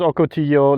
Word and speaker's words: ocotillo: i presume is pronounced ocotillo like in mexico pronunciation this is how it